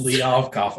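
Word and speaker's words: Kliavkoff: The picture of Kevin Warren talking to George Kalibov, I can't pronounce his name. Liavkov, yes. Liavkov, okay, thank you.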